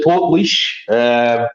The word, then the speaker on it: Portlaoise: some of these videos I've been pronouncing this name very, very wrong in a few videos. But, I believe it's Portlaoise. So, yeah, Portlaoise.